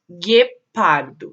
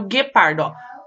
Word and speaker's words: guepardo: agora presta atenção em algumas palavras escritas com gel e gui u é pronunciada a gente consegue ouvir o sonzinho do em outras não por exemplo em que pardo eo não é pronunciado olha lá já guache érica gente consegue ouvir já guatirica raul já aguá tiririca agora no guepardo guepardo a gente vai só